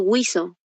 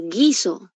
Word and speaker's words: guiso: Lo que pasa que yo no estoy pronunciando wio cómo estoy pronunciando guiso entonces esa u no existe en mi pronunciación entonces para que sea diptongo tiene que sonar la u Si yo te digo